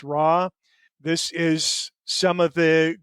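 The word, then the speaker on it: ROIR: R O I pronounced RAW.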